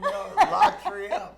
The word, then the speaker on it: La Triomphe: That golf tournament is going to be at La Triomphe, and I'm sure I didn't say that like the true Cajuns in French would say it. No, La Triomphe. That's how you say it.